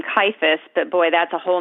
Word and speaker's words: Kajfosz: That's how you say it? Kajfosz. I know. I had no idea. It's exactly like it's spelled.